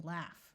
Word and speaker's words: laugh: the word ghost and there are a few words where G and H take on the sound of an F like in laugh when a word starts